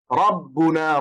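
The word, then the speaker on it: ربنا: You have to pronounce the raw, it will be thick. Rabbuna, ra ra ra, Allahu rabbuna wa rabbukum.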